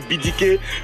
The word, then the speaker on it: BDK: Donc en français, c'est BDK. Mais comme quand je commençais, j'avais des ambitions internationales. Donc on est parti sur la base de la prononciation en anglais. Ça donne BDK. Donc par exemple, si vous voulez me retrouver sur Facebook, vous tapez DJ BDK effectivement. Mais en fait, c'est BDK qu'on prononce. Voilà.